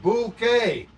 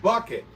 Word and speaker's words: Bucket: what hson said Chris she said that that is pronounced bouquet how dare you try to pronounce Miss Hon's name as bucket buet yeah he said Mrs bucket it's bouquet holy crap you English folks